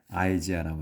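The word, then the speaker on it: Isaiah: 이사야 이제 우리는 이사야라고 하는데 영어로 이제 할 때는 아이지아라고 합니다. 아이죠.요 아이.요이 아이를이 영화의 생명 아이로 바라 그래요. 우리 한국에서는이라고 하는데 발음에서는 영어에서는 아이 i 아이라고 말합니다.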